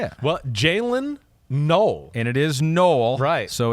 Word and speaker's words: Noel: For people who do not know yet, my last name is pronounced like null. Had this question a lot lately. So, not only is it pronounced like null, it is pronounced null.